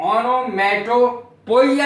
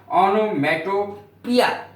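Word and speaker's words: onomatopoeia: इसको लोग ऑनोमेटोपोइया भी बोलते हैं, लेकिन वो स्पेलिंग याद करने के लिए ऐसा करते हैं, सही उच्चारण है इसका ऑनोमेटोपिया, पोइया नहीं है।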